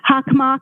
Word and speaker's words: Hockomock: Hockomock. Okay, thank you very much for the pronunciation.